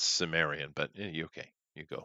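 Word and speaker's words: Cimmerian: out of europe that they call the chimerian i believe or kamerian or however you want to pronounce it and those are good books well it's pronounced sumerian but you okay you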